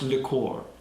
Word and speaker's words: liqueur: Chris, it's pronounced liqueur. You're pronounced liqueur. Liqueur, Chris. And you have to have your pinky out.